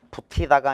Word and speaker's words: 붙이다: 지로 발음한다 교체야 교체 티읕이 치읓으로 가티가 아니라 같이 붙이다가 아니라 붙이다 세부키가 아니라 세부치 바티가 아니라